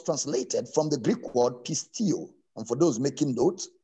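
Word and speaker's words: πιστεύω: word belief was translated from the greek word pistio and for those making notes is spelled as p i s t e u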